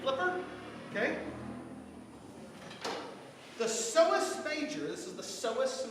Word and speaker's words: psoas: The psoas major, this is the psoas major, P-S-O-A-S, has that silent P like my name.